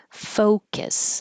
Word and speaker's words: focus: events that have lights Focus that's most important in this word to have a good o and since it's the stressed syllable it's going to be longer Focus um if it